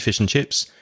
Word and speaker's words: fish and chips: Cod on the menu be careful of the pronunciation of fish and chips we don't usually say fish and chips the end becomes mmm just mmm fishing fish and